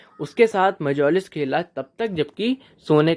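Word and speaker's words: mjolis: क्या किया, and played मेजोलिस, ठीक है, मेजोलिस इसका सही प्रोनाउंसिएशन है, with his guest until bed time.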